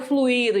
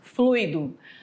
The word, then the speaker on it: fluido: fluido percebe Tem gente que fala ai o fluído Então qual é a pronúncia correta fluido barbária Olha lá já viram assim con que